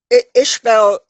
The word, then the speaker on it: Iseabail: So Mm, Ishbel, it's pronounced the same, the Gaelic mm. spelling, but it's uh, anyone who isn't familiar with Gaelic wouldn't know that Iseabail was pronounced Ishbel.